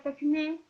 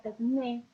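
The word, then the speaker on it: τέχνη: Ustedes lo tienen en el texto escrito en el idioma original, pero bueno, se pronuncia techné o después deriva en tecné y de ahí a técnica.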